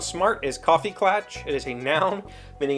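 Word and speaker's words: Kaffeeklatsch: german right but it's pronounced coffee clutch yeah i mean it's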